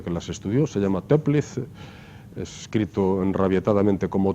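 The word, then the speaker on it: Toeplitz: en la historia con las estudios se llama teplice es escrito enrabietada mente como todo el lítex no incide pero se pronuncia simplemente tranquiliza y tiene muchas propiedades por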